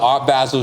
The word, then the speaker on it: Art Basel: I went to, it was an Art Basel show. I know I pronounced Art Basel wrong.